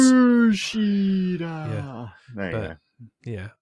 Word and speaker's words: Kushida: I guess if you're a ring announcer, then yes, you could say it like that. Then you're over pronouncing certain syllables. Kushida.